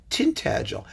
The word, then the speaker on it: Tintagel: in in east baxia it's it's tinted gel and you know there are many many ways to do it and so i wouldn't worry too much as long as you spell it correctly t-i-n-t-a-g-e-l that's tintagil and you really don't want